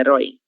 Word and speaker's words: herói: Baseado na sílaba tônica, que é herói.